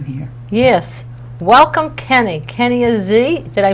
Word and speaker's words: Azi: yes welcome Kenny Kenny Ozzy did I pronounce it right that is correct it is pretty much French but you you have